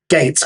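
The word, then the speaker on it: Gaitz: There is at least one unit officer in this series called Captain Gates. G A I T Z played by John Anderson and pronounced Gates as in Bill Gates.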